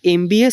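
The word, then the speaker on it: MBA: আগের মতোই আমি বললাম যে এমবিএ এর উচ্চারণে ই এম দিয়ে শুরু হয়। তাই এখানে এন বসবে। ঠিক আছে? তোমরা উচ্চারণ করো আমার সঙ্গে সঙ্গে। এমবি এ। শুরুটা একটা মনে হচ্ছে একটা কনসোনেন্ট লেটার দিয়ে শুরু। কিন্তু উচ্চারণ করতে গেলে আমাদের কিন্তু অবশ্যই ভাওয়েল সাউন্ড চলে আসছে।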